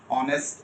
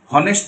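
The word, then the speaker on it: honest: features confusing long and short ভল sound আছে silent letters আছে যেমন আপনি ডে বলছেন সুনামি টু সুনামি না অনেস্ট এইযে কেন হরসের আগে এ আর হনেস্ট যদি পড়ি তাহলে তার আগে এ হইতো আমরা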